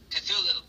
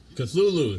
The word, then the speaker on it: Cthulhu: Chutlalab, right? Or I could never pronounce it. Cthulhu. Cthulhu.